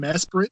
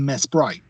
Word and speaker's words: Mesprit: I've heard it Mesprit, Mesprit, and Mesprite. How do you say it? I've only heard people say it as Mesprit. Like, I've not even heard of an alternative for it.